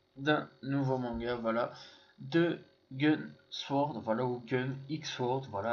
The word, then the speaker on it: Gun X Sword: 2005 donc on prononce on doit pas prononcer le X donc voilà quand on parle de la série il faut seulement dire gun bon demandez pas pourquoi